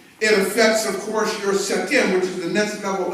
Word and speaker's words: Sekhem: level in the energy center, and it's called Sekhem. It's spelled S-E-K-H-E-M, Sekhem.